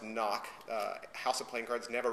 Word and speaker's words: NOC: name of noc and it is pronounced knock house of playing cards